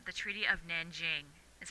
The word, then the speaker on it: Nanjing: It's called the Treaty of Nanjing, is how you pronounce it, okay?